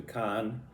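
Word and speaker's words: Cairns: where we're going to Khan. And uh it's interesting that town and the area around it. It has an R in it, but you don't pronounce pronounce the R in Australia.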